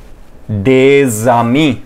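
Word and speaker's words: des amis: भी वोवेल्स में हमारा यह दोनों के बीच की प्रोनंसिएशन एज अ ज प्रोनाउंस होती है ठीक है सो जो हमने एग्जांपल ली इसको हम दे जामी प्रोनाउंस करेंगे यह इकट्ठा एक यूनिट बन जाता है एंड it will be pronounced एज ज नॉट ओनली वोवेल्स वी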